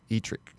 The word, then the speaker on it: Edric: You said like Dietrich first, or Etrick. Etrick.